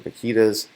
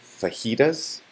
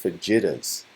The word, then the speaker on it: fajitas: some person there and they ordered fajitas but they pronounced it Vegeta's and I was really